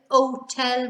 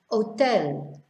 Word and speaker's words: hotel: Hotel, we just ignore the H as if it's not even there. Hotel, ahora, so you're skipping over the H.